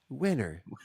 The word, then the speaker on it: Wiener: It's with an H, though. Winner. Oh, let's pronounce it that.